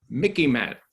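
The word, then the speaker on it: MICIMATT: a pencil it means mickey matt it reminds it it sort of rhymes with mickey mouse so you can remember it m so military industrial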